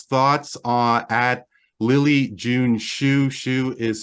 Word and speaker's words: Schu: Shu is spelled SCHU.